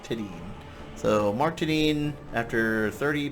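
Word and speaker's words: Tedin: to 's name incorrectly everybody seems to think it's Mark tedan and uh they would be wrong it's Mark teden so Mark tadine after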